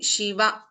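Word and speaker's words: शिव: Similarly, Shiva is a ending with a hrasva, short vowel. We are not prolonging, which means Shiva Shankara. If I prolong the last letter here, Shiva, it becomes Devi.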